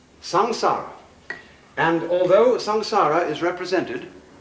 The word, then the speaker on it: samsara: sanskrit sa m s a a samsara it's pronounced samsara and although samsara is represented in a popular